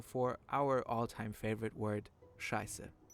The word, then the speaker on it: Scheiße: It looks like this and is essential for our all-time favorite word, Scheiße. The sz is used to indicate the hard s sound.